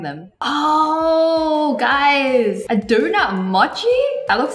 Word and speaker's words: mochi: When I go to America, all my LA friends called mochi mochi, but it's actually mochi. Because in Japanese, O is an O sound, not an O sound. That's an English pronunciation.